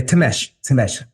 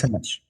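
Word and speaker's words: Thimesch: Yeah, Tamesh, Granda Yes. Tamesh.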